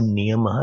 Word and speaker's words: Niyamah: When I say Niyamaha, I'm putting a visarg there.